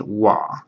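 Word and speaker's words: は: going to need really soon in grammar it's pronounced wa even though this is wah if this is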